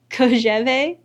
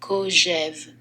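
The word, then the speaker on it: Kojève: But he's responding to Koheve. Hang on, I have to Google how to say his name. Kojev.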